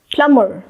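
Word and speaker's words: plumber: है वहां पे हम B को रखते हैं साइलेंट। ये बन जाएगा क्लाइम, क्लाइम, क्लाइंब नहीं, क्लाइम। प्लम्बर, प्लम्बर, प्लम्बर नहीं, प्लम्बर।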